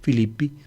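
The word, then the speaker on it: Φίλιπποι: sujeto Scénic Filipo y se escribe Filipo y se pronuncia Filippi el nombre de la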